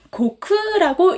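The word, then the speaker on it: 国: 그리고 예를 들면 한국인 이렇게 국자 음으로 읽힐 때는요. 고쿠라고 읽힙니다. 고쿠.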